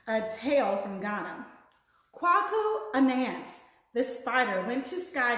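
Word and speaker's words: Anansi: Her name is pronounced Anance.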